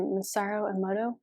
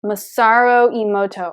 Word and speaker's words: Masaru Emoto: and I hope I'm not botching his name masaro Emoto how do you say your name I am so sorry masaro Emoto okay yeah m-a-s-a-r-u-e-m-o-t-o yeah foreign a message